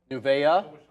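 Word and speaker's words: Nuvei: EV sector you said nuva how do you say this word it's weird it's uh nuvaya yeah nouvea Sean says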